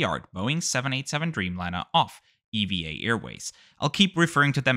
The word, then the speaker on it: EVA Air: Eva Airways yes that's apparently how you say it I also just